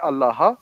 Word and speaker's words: Allah: d That's not Divine say it like Jesus said it so say allaha when you speak about